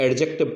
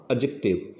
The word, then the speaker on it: adjective: जैसे कि पहला एग्जाम्पल है हमारा ADJECTIVE, तो इसका हम जनरली उच्चारण 99% लोग एडजेक्टिव करते हैं, जबकि इसका सही उच्चारण होगा एडजेक्टिव।